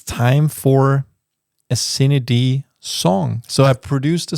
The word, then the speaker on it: CineD: People just say signed or whatever. But if you write it like this, it will pronounce it correctly.